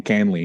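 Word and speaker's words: Kahnle: change up Tommy Tommy Canley excuse me it's a tough one because it doesn't sound like how it's spelled but he threw 28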